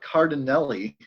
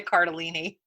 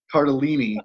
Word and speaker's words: Cardellini: exactly speaking of names Linda Cardin Nelly correct actually Linda Cardellini Cardellini are deleting it that's how you say her name that's the fun fact